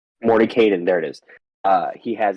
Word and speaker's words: Mordenkainen: Morden Kanan. Mordenkainen, there it is.